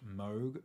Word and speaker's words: Moog: Parts on many of the songs including a moo and ARP synth base on the track that